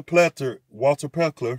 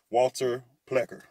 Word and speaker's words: Plecker: And the Iroquois Confederacy was later on by Walter Pleckler. Well, if I say his name right, Walter Plecker. Yeah, Walter Plecker.